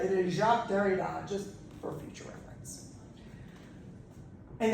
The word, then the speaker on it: Derrida: Better than people who pronounce this guy's name as Derrida. Okay, it is definitely not Derrida. It is Jacques Derrida, just for future reference.